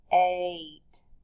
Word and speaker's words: eight: little bit tricky because when you say it eight it sounds like there's an a at the beginning a long a sound but the number word 8 is spelled e i g h t it's one of those words you just have to memorize because it does not follow the rules we don't hear an e at the beginning we do